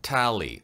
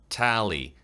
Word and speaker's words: tally: 그 다음에 tally, 집계란 말이죠. tally, 에 발음은요, 항상 좀 세게 잡아주세요.